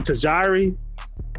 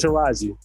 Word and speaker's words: Taraji: I think I'd call her Tajiri. Like I had. Oh wow, yeah, you butchered that now. I called her like 4 different things that wasn't Taraji.